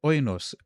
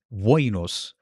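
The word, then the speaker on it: οἶνος: gives is the word oinos for wine. Oinos was the word for wine, except it wasn't. It was voinos. And in Latin, it was vinum. See? Vinum. That's so it had a W.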